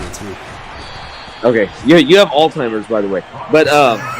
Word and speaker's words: Alzheimer's: me okay you have Alzheimer's by the way but um that's hilarious way it's it by the way it's not Alzheimer it's Alzheimer's yeah you you illiterate